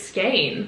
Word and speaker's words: skein: It's skein. And then skein rhymes with pain.